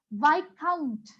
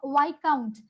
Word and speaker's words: viscount: is the spelling of why count what is the spelling of Y count now the spelling and the sounds are different the spelling and how we pronunciate it is different I'll tell you what